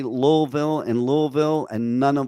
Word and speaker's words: Louisville: here in Kentucky who don't even know how to pron louville right they pronounce it louville it's Louisville was it King L